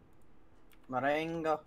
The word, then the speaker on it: Marengo: Oh, I pronounce it more Spanish than French, so. Marengo.